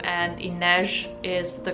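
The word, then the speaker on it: Inej: by the way I looked up how to pronounce her name and Inez is the correct way to pronounce her name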